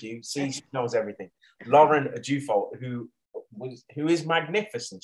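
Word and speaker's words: Ajufo: what's not in the second name how'd you pronounce it a jew fault thank you see knows everything lauren a deufo who was who is magnificent she's beautiful i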